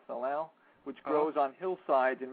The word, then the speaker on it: salal: is something in Oregon called uh salal s a l a l i guess that's how it's pronounced salow which grows on hillsides